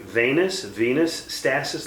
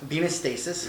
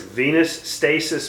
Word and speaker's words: venous stasis: i pronounced it right Venus Venus status leg ulcer ven oh us how would you pronounce that venous stasis venous stasis well I got none